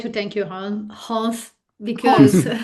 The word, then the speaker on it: Hans: You are Hans. Yeah, I know. Okay. You tend to drop the H. Okay. Same questions. I just would like to thank you Hans because well